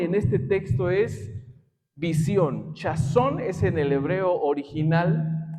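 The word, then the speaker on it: חזון: Chazón es en el hebreo original, así se pronuncia, y quiere decir o significa una visión mental, un sueño, una revelación que procede del oráculo sagrado.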